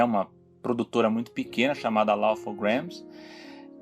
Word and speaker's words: Laugh-O-Gram: E depois ele abriu a empresa, aquela Loud on Grains, é assim que se pronuncia? Laugh-O-Gram. Laugh-O-Gram.